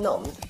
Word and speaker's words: numbed: If you're numbed, you're unable to feel, think, or react in a normal way. By the way, B is silent in numbed. It's not pronounced.